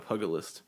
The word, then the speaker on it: pugilist: The hand-to-hand combat is called a pugilist, and then they become a monk later on. but Hey, they start that's as a pugilist. that's the same. Or as some people pronounce it, a pugilist.